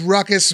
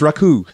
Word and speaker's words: Ruckus: is it pronounced Raku? Like he says on the show. Oh, no, man, I was Ruckus, man, way before. I was Ruckus, man, from 1994.